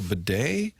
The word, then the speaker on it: Batty: Tyler Batty who changed his name now to bedet bed you sure Tyler Bed said it's always been how it's pronounced but we just got correct today he